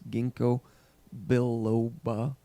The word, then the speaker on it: ginkgo biloba: what they're actually finding, is that there is no close relative to this ginkgo biloba.